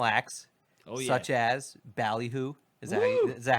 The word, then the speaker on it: Ballyhoo: such as Ballyhoo. Is that how you pronounce it?